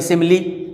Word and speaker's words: simile: मैंने एक बता दिया, बोल शिमली, SIMILE, इसको हमने पढ़ लिया, इसके ई को उच्चारण में पढ़ लिया, सिमली।